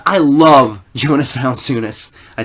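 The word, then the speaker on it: Valančiūnas: people pick Steve Adams sure my pick Jonas values I love Jonas valunas I said it wrong before I said it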